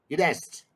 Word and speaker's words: id est: pronunciation? Id est.